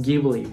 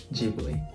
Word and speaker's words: Ghibli: the japanese anime industry although italian word is pronounced ghibli with a hard g sound miyazak said it wrong and he said ghibli which became the official